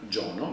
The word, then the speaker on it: Giono: fatto leggere ecco jean giono in realtà jean giono perché poi però c'è un nome e un cognome italiano trasformato secondo l'accento francese è uno scrittore del